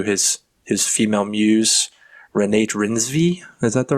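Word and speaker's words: Reinsve: daddy issues through his his female muse Renate Renvi. Is that the right pronunciation? Renate Rensve. Renate Renve.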